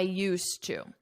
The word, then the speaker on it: used to: past I used to I used to notice my pronunciation you don't hear this D at all I used to I